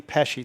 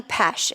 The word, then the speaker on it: Pesce: large candidate Pesci did I say that correctly close enough I do I say pesh and I only say that because it's the proper Italian pronunciation oh okay and funny